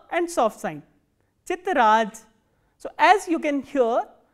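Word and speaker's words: тетрадь: The next word we have is chitraj, chitraj, t, ye, t, r, a, d and soft sign, chitraj.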